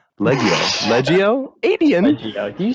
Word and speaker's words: Leggio: say his name correctly my name is aiden leggio it's a tell us about before the show i'm like leggio you know that makes sense you know i